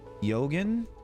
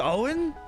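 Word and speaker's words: Eoghan: to say it though it's Irish no that's they that's perfectly fine Owen is pronounced Owen that's sick it is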